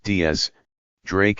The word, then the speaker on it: X Drake: from the north blue x pronounced diaz drake is the captain of